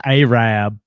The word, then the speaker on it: Arab: That's Arab. Yep. In Alabama, there is a town called Arab, and that's how you spell it.